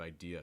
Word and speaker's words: idea: at the end of idea you want to hold it long enough don't rush it it's not idea it's idea uh hold that uh same thing with countries